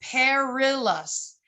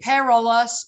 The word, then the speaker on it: perilous: but the word is pronounced perilous. But a lot Yeah. of people say that word, they butcher that word. They say perilous, perilous, perilous. They say Yeah. all kinds of different things.